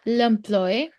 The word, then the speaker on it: l'employé: L'employé, L'employé, here you see, we have an accent aigu, so we need to pronounce it. L'employé.